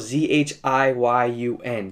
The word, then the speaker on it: Zhiyun: It's spelled Z-H-I-Y-U-N, so Zhiyun sounds good to me.